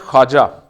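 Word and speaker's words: خواجہ: जैसे ख्वाजा, ये लफ्ज़ ख्वाजा नहीं होता, ये ख्वाजा नहीं होता, दिस इज़ ख्वाजा। तो ये खा के साथ अलिफ मिला दे, वाव प्रोनाउंस नहीं करते ख्वाजा।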